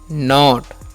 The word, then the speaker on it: knot: और KNIFE है तो इसे हम लोग पढ़ते हैं नाइफ, KNOT है इसे हम पढ़ते हैं नॉट, ठीक है।